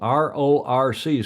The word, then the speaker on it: RORC: Hey, The RRCs, well, I said that as kind of one syllable. RORC's Caribbean 600 coming up with a start on Monday.